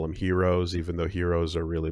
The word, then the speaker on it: gyro: the Greek food but that's more like gyro but the word g and Y aren't pronounced because it's supposed to be hero and yada yada yada